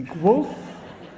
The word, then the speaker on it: Guelph: which still eludes me, Guelph? Is it go and wolf? Guelph? Guelph. And here, the crowd is quite large, I think.